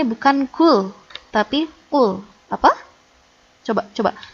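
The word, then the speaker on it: قل: Bukan kul, tapi kul. Coba baca kul. Kul. Kul. Baik, bagus. Nanti kalau belum terbiasa, latihan terus ya. Nah, ini kul, yang artinya katakanlah. Tapi kalau kul, pakai kaf, artinya makanlah.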